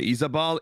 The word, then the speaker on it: Izabal: It's spelled with a Z. Isabel with a Z. Or Isabal. Izabal.